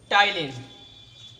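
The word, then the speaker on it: ptyalin: अब आपको पता है कि कौन सा एंजाइम है, टाइलिन। तो आप क्या लिखोगे, टाइलिन। इसमें बेटा पी साइलेंट रहेगा।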